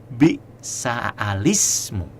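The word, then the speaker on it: بئس الاسم: Cara membacanya adalah dengan pertama memulai hamzah wasol dengan dibaca fathah dan kasroh lamnya. Bi'sa alismu. Bi'sa alismu.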